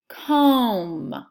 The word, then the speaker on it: comb: Comb. Comb. What letter is silent? B. The letter B is silent, therefore the pattern MB works together to make that M sound.